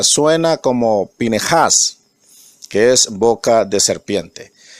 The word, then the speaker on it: Pinejas: correcta en el hebreo espín esas algunos dice pinchas pero en la realidad se pronuncia suena como pine hash que es boca de serpiente esta hermosa para